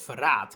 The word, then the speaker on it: Verrat: Elfric's unique class in the Cindered Shadows DLC of Free Houses is Verraad, which is actually pronounced Verraad, and is the Dutch and German word for betrayal, referring to his character.